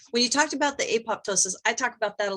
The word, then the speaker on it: apoptosis: going to correct you the second p is actually silent yeah so so uh a-p-t-o-s-i-s it's a ptosis so the psi says apoptosis okay i even hear scientists say apoptosis but the second p